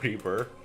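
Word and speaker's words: XRiver: My name on WoW is River and some dude was pronouncing it River. I mean, yeah, like xylophone. I mean, it's... it's River.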